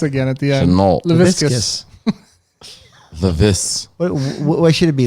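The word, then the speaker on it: Laviscus Shenault: Laviscus. Levis. What should it be? Yeah. LaVisca? Laviscus. Is it Leviscus? It rhymes with biscuit.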